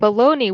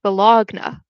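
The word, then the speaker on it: bologna: And the word pony and bologoney which is spelled b o l o g n a like looks like it should be pronounced bologagna.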